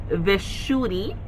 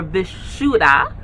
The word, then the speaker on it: Vishuddha: So the Sanskrit word for the throat chakra is Vishuddhi or Vishuddha, right? And to spell it is Vishuddha or HI, right?